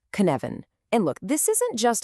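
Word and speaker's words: Cynefin: First things first, it's pronounced Kvan.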